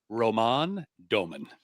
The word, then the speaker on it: Roman Domen: Um, just for just for our pronunciation folks out there, it's Roman Domen is uh it took me four months to get that nailed down.